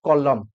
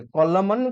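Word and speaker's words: column: दवा पई चेष्टा करो which letter is silent in a word कॉलम कॉलम रे कोटा साइलेंट अछि माने देखुचे एन कॉलम हमें कहूचे कॉलमन कहूना है नेक्स्ट तापर हम मानकर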